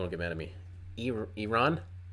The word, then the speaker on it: Iran: get mad at me Iran not IR ran but uh I'm not